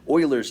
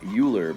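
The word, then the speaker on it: Euler: And I just happen to have this mirror from an Oilers's disc, uh, which is basically a stand for spinning stuff around. It looks like Uler, but it's pronounced Oiler.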